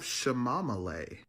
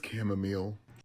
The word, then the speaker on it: chamomile: You have shamamale. It was chamomile.